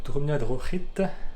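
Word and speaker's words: Drumnadrochit: Voilà, je suis arrivé à ma guest house pour la nuit, dans le petit village de Drumna Drochit. Oui, ça se prononce R, le CH en gaélique, il me semble.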